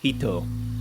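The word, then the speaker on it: 人: The first character, which on its own is pronounced hito, refers to an individual human being, the focus of modern Western philosophy.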